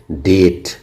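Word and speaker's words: debt: अगर किसी वर्ड में बी टी के पहले आता है तो वहां भी बी क्या होता है? साइलेंट होता है। जैसे डेट। यहां देख लेते हैं। टी के पहले बी आएगा। इसलिए बी साइलेंट हो गया।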